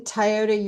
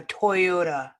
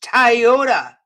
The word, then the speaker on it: Toyota: Lady, you can't convince me you've never heard of a Toyota. It can't possibly be spelled in a way that you would think it's pronounced Tyota.